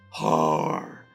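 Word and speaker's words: Haar: How else would I pronounce that name? It's H-A-A-R. Har.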